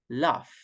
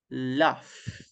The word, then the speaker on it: laugh: of weird for us, but the pronunciation of GH is similar to the letter F. For example, the pronunciation of this verb in base form is laugh, laugh.